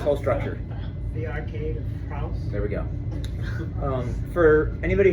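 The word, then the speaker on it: Frohse: The arcade of Frauds.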